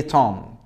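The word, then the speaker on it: tomb: عادي وهي قبلها ام ولكن معظم الحالات هتلاقي ان الام مع البي البي سايلنت زي توم تم تم مقبره طيب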